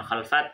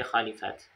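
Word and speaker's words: خلفات: Ya, kemudian di sini beliau menyebutkan al-khalifat, artinya bi fathil kha'il mu'jamah, yaitu kha, khalifat, wa kasril lam, dan mengkasrahkan lam, khali, yang bacanya bukan khalfat tapi khalifat. Jam'u khalifah, jamak dari kata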